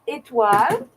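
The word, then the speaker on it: Étoile: And it's pronounced Etoile. It's a French word, so I can pronounce it well.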